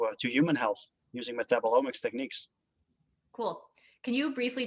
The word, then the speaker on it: metabolomics: to human health using metabolomics techniques cool can you briefly describe what uh metabol metabolics wow i can't even pronounce it properly metabolomics yes like what that